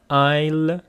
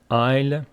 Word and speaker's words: aisle: And here we have aisle seat, aisle. The pronunciation is aisle. Aisle.